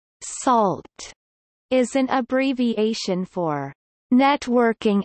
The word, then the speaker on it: NaCl: sodium chloride, pronounced salt, is an abbreviation for Networking and Cryptography Library, a public domain high-speed software library for network communication, encryption, decryption, signatures, etc.